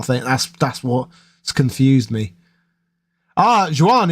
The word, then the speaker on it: Juan: Juan is pronounced like want.